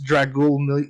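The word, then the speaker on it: Dracule: It's Dragul Mihawk.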